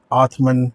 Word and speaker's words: Atman: and the statement is Atman is Brahman. Atman is Brahman. The correct pronunciation really is Atma is Brahma.